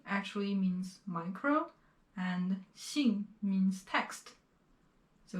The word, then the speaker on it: 信: 信, 金. And when you are pronouncing both of these characters, do not roll your tongue. 信, 金. Just keep your tongue flat and relaxed there.